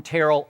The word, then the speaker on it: Terrell: And Terrell turned to him and said, no, it's Terrell, coach.